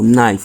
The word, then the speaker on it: knife: We have the no, phonogram o, silent for all of them. No, knife, knee.